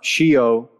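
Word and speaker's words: scio: and um interesting enough shio in italian means i know s c i o phonetically not that's obviously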